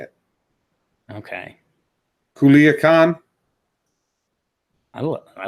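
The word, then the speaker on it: Culiacán: this word okay yeah kula can ya that's not right there's no way that's right yeah well uh we need we'll need some help on that one people someone in the chat says Culiacan I mean that's how it's spelled yeah yeah if you pronounce every letter it would be said Culiacan all right so everyone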